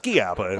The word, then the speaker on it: Schiappa: It's pronounced Schiappa in this case, I've learned.